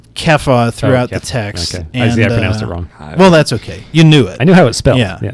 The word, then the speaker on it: Cephas: So I think Peter is referred to as Cephas. Kepha throughout the text. Okay. I pronounced it wrong.